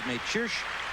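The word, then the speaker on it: Mečíř: Yesterday, if you watched, you heard us referring to him as Mecir, and that is as close as we could come to the correct Czechoslovak pronunciation of it. His father is a Czech, his mother is from Slovakia, and the 22-year-old says that Mecir is fine with him.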